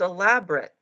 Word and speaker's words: elaborate: then I realized it's elaborate. Is that the same word? Elaborate and elaborate? That's crazy, right? It depends how you accent the syllable.